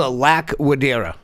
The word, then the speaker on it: Laquidara: Yeah, it's a Laquidara.